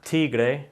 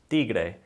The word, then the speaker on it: tigre: the D sound, and it's a much softer pronunciation than the T sound in English.